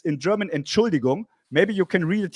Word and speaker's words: Entschuldigung: How do you say it? It's Entschuldigung, but okay, it's fine. That's fine. You said it fast. You said it too fast.